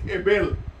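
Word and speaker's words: הבל: La palabra vanidad en el hebreo es vapor y se dice Hebel. La misma pronunciación para Abel, algo fugaz, algo neblinoso, algo que se iría pronto.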